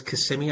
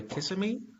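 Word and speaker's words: Kissimmee: CMI Florida they love their rodeo Oh it's CMI I never knew how to pronounce that yeah my cousin was on the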